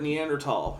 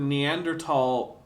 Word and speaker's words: Neanderthal: is in France and the word Neanderthal ultimately derives from French and so it should be pronounced in the French way if you want to be super correct but here's the thing if you're a native English speaker and you want to pronounce that th with a with us I whatever that's fine but you would think a